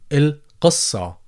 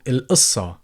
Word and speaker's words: القصة: Again, as you always ask the letter قاف, you can go ahead and pronounce it as قاف. So you could say شو القصة.